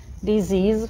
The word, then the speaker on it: disease: Disease, всем знакомо, надеюсь, это слово, читать надо z и z, потому что s читается как z между двугласных.